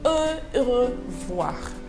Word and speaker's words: au revoir: Now, goodbye number one is the word au revoir, but it is pronounced as au revoir.